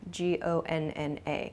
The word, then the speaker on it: gonna: both of these expressions going to shortens to gona g-o-n-n-a gonna i'm gonna i'm not gonna this sounds much more natural at least than american